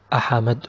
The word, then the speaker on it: أحمد: Like the name of أحمد, there is سكون on ح, so we don't pronounce it أحمد or أحمد or أحمد, it's أح مد. I stop on أح then مد.